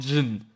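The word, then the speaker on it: Djinn: The immortal Sentinel is called Jin, without the D. The D is silent.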